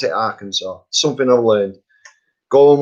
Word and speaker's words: Arkansas: it wrong because it you don't pronounce it like it's spelt it's spelt our kansas a r and then the word kansas but you pronounce it arkansas something i've learned go